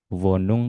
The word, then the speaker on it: Wohnung: W dibaca V. Vum. Ya, jadi W tidak dibaca W. Kalau masih terdengar W masih salah dibacanya V.